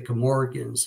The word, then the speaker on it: Camorgan: Camorga and what the Camorgans have done to them. So now, a question for you on is it the Camorgan? Is that how you pronounce that? Yeah, actually it is.